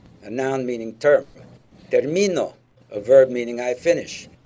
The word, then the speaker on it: termino: your p and qes you got to be careful about which syllable you stress hard it's going to make a big difference in Spanish but again remember that